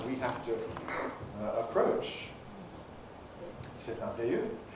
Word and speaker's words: merveilleux: C'est merveilleux. You can't say merveilleux, really, in an English sort of way.